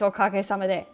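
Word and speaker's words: おかげさまで: Yeah, it's okage-sama de.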